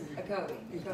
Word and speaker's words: Ocoee: It was Ocoee. Oh, Ocoee, yeah, because the Ocoee River.